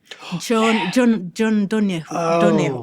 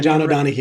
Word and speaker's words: John O'Donohue: John Donahue. Who I'm not pronouncing. Yeah, John O'Donohue.